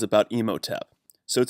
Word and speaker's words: Imhotep: his vice our and menno tap so let's look into a minute at I'm sorry I'm pronouncing that incorrectly it's Imhotep as in the Imhotep from